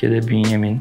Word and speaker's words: Bünyamin: or i say that it's bunyamin, but somehow they call me benjamin.